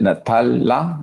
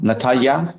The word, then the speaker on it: Natalya: How do you pronounce your last name? Z. Z. Okay. And it's is it Natala? Natalya.